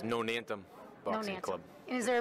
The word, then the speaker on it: Nonantum: all uh tell us um how do you pronounce the name of the place it's nonantum Boxing Club and is there a reason why